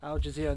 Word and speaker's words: Al Jazeera: Aussie cricket chief hits back over corruption claims made by, and I can't pronounce that name, Al Jazeera. Al Jazeera, there we go.